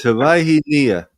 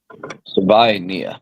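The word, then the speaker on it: Savaiinaea: And that left side with Paul and then Sevi, however you pronounce his name, and then Brewer. Yeah. That side is dominant. They're physical. It's Savaihi Nia. Savaihi Nia.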